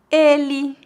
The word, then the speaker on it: ele: Em final de palavras, a letra E é pronunciada como um I fraco, como em algumas palavras que já falei hoje. Ele, entre, estudante. Note que apesar de escrevermos com a letra E, nós pronunciamos I.